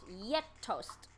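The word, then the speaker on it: gjetost: chat gj e t o s t is pronounced yet toast yeah this is the pronouncing world of cheeses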